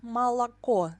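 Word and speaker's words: молоко: like e for example in the word malaco the last o is stressed and it sounds like or or in the word mojna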